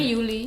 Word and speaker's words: Juli: Oh, Juli bacanya jadi Yuli.